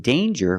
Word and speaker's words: danger: danger and anger so with danger we hear the J sound danger there's no nasal sound there's no it's a regular n Dan J with the